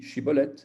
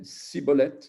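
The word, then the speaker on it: שיבולת: Il lui disait « Ben alors dis Shibolet ». Et il disait « Sibolet ». C'est comme s'il avait un pronom, un cheveu sur la langue, en fait.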